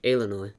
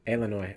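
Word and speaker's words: Eilonwy: No, it's more of an A. Illinois. Illinois. Okay. AI is a diphthong that's pronounced like an A, or A, and then W is like an O in the Welsh language.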